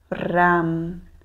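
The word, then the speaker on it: रं: em frente ao peito não esquecer de pronunciar ou a nos bidias mais aberto no sânscrito não existe o e somente o a então será lam vam Ram Yam ham certo então vamos começar Então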